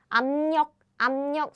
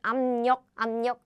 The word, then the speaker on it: 압력: meeting the nasal sound, so it becomes 압력. So this is how Korean people pronounce it. Plus again, this happens very naturally. So air blocking sound and these real sounds coming together. So Korean people now naturally we just pronounce it like nasal sounds, as in 압력, because both of them